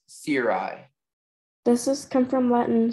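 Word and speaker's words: cirri: The word's only pronunciation is Siri.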